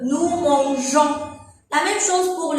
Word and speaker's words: mangeons: Pour garder la même prononciation, on va ajouter un E. Nous mangeons.